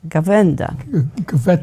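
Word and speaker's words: Gawęda: So it's all in here in the form of a fireside chat, gavenda. Gavenda. We would spell that Gaweda.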